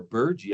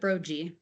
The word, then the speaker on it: Brogy: Brogy or Burgee? I've been saying Burgee all this time. I pronounce it Brogy. Well, I by looking at what you put on the screen, it should be pronounced Brogy, and I don't know where I got Burgee from.